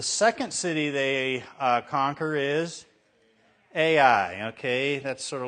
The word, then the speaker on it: Ai: Okay, Mr. Sanchez is going to tell you it's I, which probably is Hebrew. It's right. I mean, I know Hebrew, but Ai is what it looks like in English, so